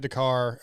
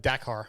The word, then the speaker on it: Dakar: Well, once again, Ricky, congratulations on another championship another win at Dakar. Dakar. I'm saying it wrong. I guess listen to you say it. Dakar.